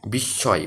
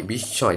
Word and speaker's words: বিস্ময়: বিস্ময়, বিস্ময়, দেখো এটার উচ্চারণ দুইবার হয়েছে, তার মানে শয়ের উচ্চারণটা কখন দুইবার হয় সেটাই আর কি।